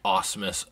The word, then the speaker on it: Asmus: rings goth mog by awesomes studios forgive me if i butchered that if i didn't say it right but i pronounce it as awesome studios asmus this is their rendition